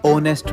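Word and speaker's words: honest: Ma'am जैसे H letter, owner में, आर में, ओनेस्ट में। नहीं बेटा, इनको हम इग्नोर नहीं साइलेंट कंसीडर करते हैं।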